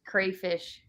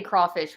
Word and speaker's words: crawfish: though right Mud Bugs they say crayfish please say crawfish when you're in New Orleans somebody said don't worry